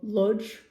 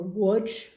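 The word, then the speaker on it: Łódź: village in poland called lodge or woods that's how they pronounced it it's l-o-d-z and i believe the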